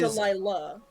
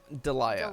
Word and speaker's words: Delia: So is it Delia or is Delilah? Delia. Delia. Okay.